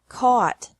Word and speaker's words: caught: by bought bought catch caught caught fight fought fought seek sought sought teach taught taught think thought thought remember that the G is silent in these verbs verbs with three different